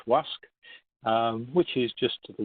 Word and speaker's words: Łask: And there's a little red marker here by Lusk, or as it's pronounced in Polish, Łask, which is just to the west of Łódź, or Lodz, which are both to the west of Warsaw.